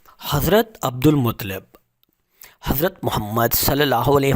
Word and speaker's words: عبد المطلب: ہاشم یا شبت الحمد، ان کو عبد المطلب، درست تلفظ عبد المطلب اس لیے کہا جاتا